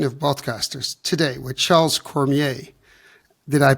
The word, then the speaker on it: Cormier: the 59th edition of broadcasters today with Charles Cormier did I pronounce it correct yes you did w welcome